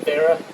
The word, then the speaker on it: Wera: Some wear, I think Vera is how you say it properly, but Wera, you got standard and metric hex wrenches with the ball tip end.